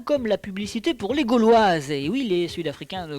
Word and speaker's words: Gauloises: il faut leur expliquer comment ça se prononce gauloise vous voyez sur en haut à droite c'est comme un Gaal de football et puis wise mais le plus beau